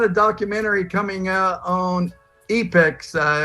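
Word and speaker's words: Epix: documentary coming out on apex uh or is that how you pronounce it Apex Channel you got it epics yeah yeah epics uh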